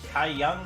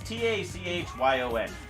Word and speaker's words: Tachyon: It's like Taiyun or Taiyun. It's Tachyon.